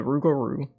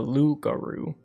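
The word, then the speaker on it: rougarou: Um, the rugaroo or the lugaroo. Uh, they're interchangeable. Um, lots of cage French is just a variation of pronunciation.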